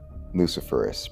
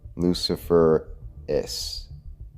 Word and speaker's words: luciferase: And with the word itself, LuciferRACE, because that is the correct pronunciation. Confirmed that. LuciferRACE, like ace.